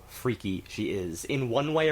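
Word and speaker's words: Freq: fool that I was calling it freck of course it's freak it's just odd the way it's spelled and I think that's just purely for the um for the rhyme with uh with with unique uh you'd you see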